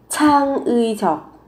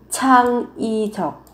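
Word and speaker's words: 창의적: Trang uy chọc. Trang uy chọc. Hoặc các bạn có thể đọc biến âm. Cái từ uy này các bạn phát âm thành y. Sẽ là trang y chọc.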